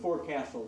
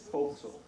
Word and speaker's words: forecastle: In the beginning, I talked about going to sit right before on the forecastle deck. Some very nice gentleman came up afterwards and said it's forecastle.